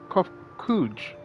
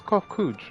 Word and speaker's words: Kofkuj: As for the nomenclature to address my individual person, I believe it would be pronounced Kofkuj. Yes, Kofkuj of the Ia.